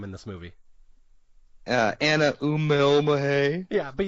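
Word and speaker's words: Uumellmahaye: Anna Umelmahay. Yeah, but you must do like the little W, the Umelmahay.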